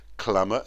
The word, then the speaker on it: clamour: Clamour and enamour rhyme with hammer.